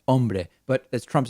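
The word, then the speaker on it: hombre: Brei, as Donald Trump likes to say, of course, that the word is pronounced Umbra. But as Trump says on Brei, you call nine one one.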